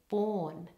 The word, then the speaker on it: born: our vowel there and also in the word born it's a long or vowel ready it started